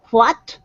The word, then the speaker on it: what: What this actually used to be is it used to be in older English, it was always that W and WH were two different sounds. One was wa and the other was hua. Yeah. Nowadays, most speakers of English just pronounce it wa.